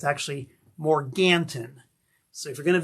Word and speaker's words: Morganton: And that's how they pronounce it. If you go there and say Morgan, they know you're not from around there. It's actually Morganton.